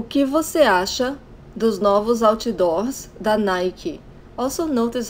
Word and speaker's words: Nike: give us a Asha those novels outdoors that Nike also notice how I pronounced Nike that's how we say in Brazil